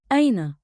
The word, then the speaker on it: أين: Say it slow. أين. One beat, like, in, with a light catch at the start.